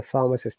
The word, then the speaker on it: pharmacist: Is it common to tell a pharmacist about your symptoms? Pronunciation again, pharmacist. You can see there is a schwa sound in pharmacist.